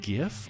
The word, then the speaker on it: GIF: Is it pronounced GIF or GIF?